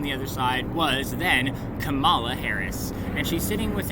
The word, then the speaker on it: Kamala: with you better if you pronounced it Kamala and not Kamala. Like Pamela Anderson Lee. Everyone loves her.